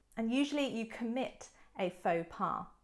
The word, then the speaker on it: faux pas: an entrepreneur number two faux pas faux pas listen to the pronunciation don't look at the words because they don't really look like they sound so faux pa another